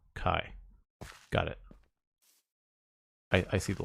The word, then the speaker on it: Chi: Oh, Chi is not pronounced Chi. It's pronounced Kai.